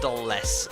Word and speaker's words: Dulles: 2 tons, pronounced Dulles. Alright, Dulles.